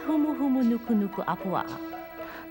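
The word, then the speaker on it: humuhumunukunukuāpuaʻa: long tongue twisters but since every vowel in the Hawaiian language is pronounced it's not really that difficult to say huu nuk Nuku apua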